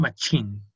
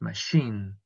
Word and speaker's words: machine: Okay, so machine, I mentioned that is with blue, so machine is with sh. It's not machine, it's machine. Machine. It's a tricky one.